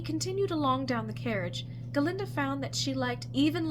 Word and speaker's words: Galinda: Please, it is Galinda, the proper old Gilliganese pronunciation, if you don't mind.